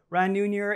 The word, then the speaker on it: Ran Neuner: Crypto Trader's host, creator, CEO of Onchain Capital, Ran Neuner. It's a pleasure to have you, my friend. Thank you very much. Did I pronounce it correctly?